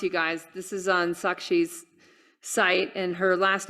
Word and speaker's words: Sakshi: me just announce, you guys, this is on Sakshi's site, and her last name, I'm going to spell it.